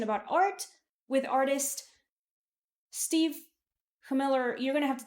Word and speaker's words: Chmilar: It sounds like it would have an S at the front or SCH.